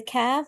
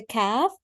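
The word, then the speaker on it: كاف: And then we have the letter kaf. When we pronounce the letter kaf, it should be with a K sound to make it the lighter voice.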